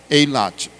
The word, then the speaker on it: Eilat: Hoje ela é pronunciada assim, Eilate.